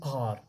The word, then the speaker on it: hour: हम इससे आवर नहीं पढ़ते हैं, हावर नहीं पढ़ते, इसे पढ़ते हैं आर, ओ पढ़ते हैं, ओ, HOUR, आर।